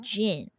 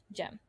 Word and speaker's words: Jem: He could not say Jen. Instead, he said gin. Like the alcohol. Oh. And I'm like, my guy. That's not how you say my name. Jem, did you think smooth stone is iron?